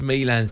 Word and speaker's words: Milan: Yeah, but his name's Milan, right?